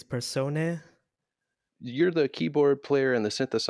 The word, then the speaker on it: Persona: Yeah, I guess the way that we will pronounce it is persone.